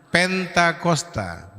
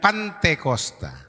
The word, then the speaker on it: Pentakosta: Pentakosta, bukan Pantekosta. Ya, kalau Pantekosta itu gereja. Ya, gereja itu banyak sekali Pantekosta. Gereja Pantekosta, Pentakosta, di kampungnya Pesta Kosta ya Bu.